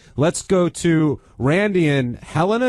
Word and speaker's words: Helena: Let's go to Randy and Helena. Is it Helena Montana or Helena Montana? How do you say that? We say Helena.